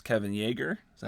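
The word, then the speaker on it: Yagher: And speaking of the masks, the makeup this time is not Rob Bottin, it's Kevin Yeager. Is that how you pronounce it? Yeah. Yeager.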